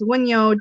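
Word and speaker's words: Wunjo: So that would make sense that this is a Y sound.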